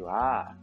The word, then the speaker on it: は: Yaitu yang pertama adalah partikel wa ya teman-teman. Partikel wa, WA, itu ditulisnya dengan huruf hiragana H kan teman-teman, HA. Tapi dibacanya wa, WA.